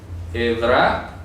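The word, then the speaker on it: עברה: no es ira he no es ira evra repito así se pronuncia hebra tiene que ver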